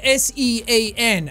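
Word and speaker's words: Seán: father over it okay it's an irish name and it's spelled like this s-e-a father n that's what the thing over the a is that's what turns it into sean it extends the vowel everyone keeps sending me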